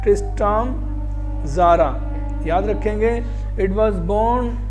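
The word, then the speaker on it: Tzara: Founded by ट्रिस्ट्राम ज़ारा, T silent इसमें, ट्रिस्ट्राम ज़ारा, याद रखेंगे।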